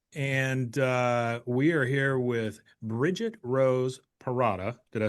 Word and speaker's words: Bridget Rose Perrotta: And we are here with Bridget Rose Perrotta.